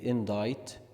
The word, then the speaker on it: indict: gloat indict indict indict the C is silent then we say indict indict legacy legacy legacy levad